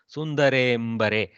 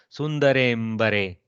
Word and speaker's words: सुंदरेम्बरे: See, almost very difficult to make the not pronounce. Sundarembare. See, from A to M, if you have to come, you descend through the akara almost. Sundarembare, like that.